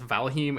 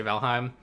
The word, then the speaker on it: Valheim: valkyrie sounds correct but i've heard people pronounce that as valhem and that sounds stupid but i'm gonna say valheim that game looks kind